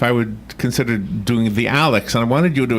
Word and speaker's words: ALYX: So when we went in, she asked me if I would consider doing the Alex, and I wanted you to explain what Alex is again, only because I couldn't explain it other than there's like double the thing.